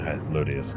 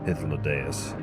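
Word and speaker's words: Hythlodaeus: I prefer the pronunciation Hythlodius to Hythlodeus.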